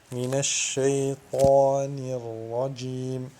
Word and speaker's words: من الشيطان الرجيم: Il faut un juste au milieu qui donne minash shaytanir rajim.